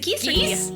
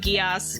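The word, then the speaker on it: geas: make yeah guos that's is it geese g e a s block of geese no guos okay that's how it's pronounced okay she is going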